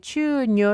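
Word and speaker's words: chuño: 영어가 아니라 남미 이니까 스페인 사전을 찾아봤더니 추울 이어 라고 이렇게 발음을 하더라구요 어 인류에 있어서 최초의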